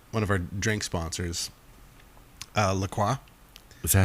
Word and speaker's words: LaCroix: but our new one of our drink sponsors, LaCroix. Is that how you say it? Yeah. Well, that's how they tell me to say it. Okay. Yeah. Yeah. They say like idiots say LaCroix. Yep. But LaCroix.